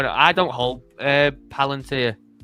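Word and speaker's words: Palantir: I don't hold uh Palanteer. How do you say? Is it palant or palanteer? It's Palanteer.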